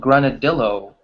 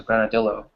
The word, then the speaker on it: granadillo: Because in English we don't pronounce the two L's as the Y in Spanish. So people will probably say granadillo, which is really Ah, funny. yeah, like el.